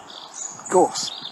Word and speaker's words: gorse: The other thing, which of course has to be our garnish at this time of year, of course, is gorse, because it rhymes with a course.